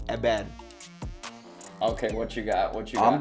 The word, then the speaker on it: Heber: Balls for Ebed! Ebed, I think I get that one. I don't think you pronounce the H.